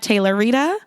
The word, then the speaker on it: Tayloritah: etay lor ITA H the H is silent at Taylor Rita and at Courtney Diamond